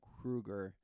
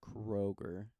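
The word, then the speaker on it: Kroeger: and then also that how to pronounce his last name Chad Krueger not Kroger and um I mean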